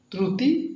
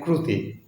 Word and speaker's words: ত্ৰুটী: শব্দ টুকলই একটা খেলি থাকে একদম মজা থাকে ত্রুটি নেক ক্রুতি ভুল ত্রুটি ভুল ক্রুতি অর্থ সকলেই জানে লিখতে অথবা উচ্চারণ করুতে খেলমিলিয়া তার ক্রুতি হও মানে ক্রুতি